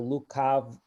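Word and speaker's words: лукаваго: a lot of Russian, the genitive singular ending written or ge or gets pronounced with a v sound ovo. So we have that in brigands with urazbojnika Lutova, but in Slavonic the ge is pronounced.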